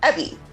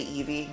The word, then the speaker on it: Evvie: a fast alliance with ebby i completely pronounced their name wrong last time um because i was so excited to um say evie basically but anyway evie